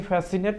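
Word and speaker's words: fascinate: फिर उसके बाद सिनेरियो यहाँ पे देखेंगे, फिर आगे देखेंगे तो ये फैसिनेट लिखा हुआ है, इसमें भी सी साइलेंट है।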